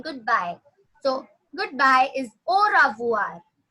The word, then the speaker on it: au revoir: So goodbye is au revoir. Au revoir is goodbye. Yes. In Hindi, as we say ravivar, try to pronounce it as ravuar.